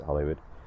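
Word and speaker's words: Holywood: Our Hollywood spelled with one L, so it's spelled Hollywood, but it's still pronounced Hollywood.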